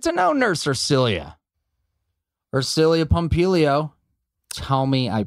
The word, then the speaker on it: Ersilia Pompilio: hey let's get to know nurse or cilia or cilia pompilio tell me i pronounced your name correctly you did of course